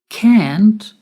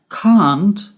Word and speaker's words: can't: can't instead of can now you may have noticed that I pronounce that word in two different ways can't and can't what's the difference can't is the pronunciation in American English and cond is the pronunciation in British English can't can't can't can't